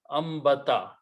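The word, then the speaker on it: أنبت: Ambata. When noon and ba comes together, noon is written, but it is pronounced as a meme.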